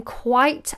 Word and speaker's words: quite: So quite is quite nice. Then that's quite and quiet, different pronunciation. Quite, quiet, shh, quite. Quite nice, quiet, it. Can you hear the difference?